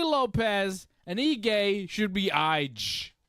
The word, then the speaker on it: Lopes: Lopes should be Lopez, and Ige should be Ige.